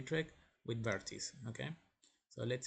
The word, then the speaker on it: Vertice: Okay, so I will go now to the Vertice website. It's pronounced Vertice in Spanish, so we will go there.